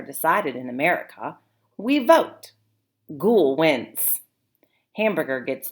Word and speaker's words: Gol: We have a word in my language, I say, ghoul, and that's spelled G-O-L. What do you think that word means in Keck's language? Ghoul.